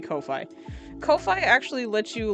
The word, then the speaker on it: Ko-fi: I keep wanting to pronounce it coffee, but I think it's supposed to be Kofi.